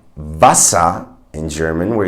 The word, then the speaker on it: Wasser: So in words like Wasser in German, where you see a W at the beginning of the word, you have to actually bite your lower lip with your upper teeth. So you go Wasser. It's not Wasser as you would say in English, right? You would say water. So that's not a V sound, it's a W sound.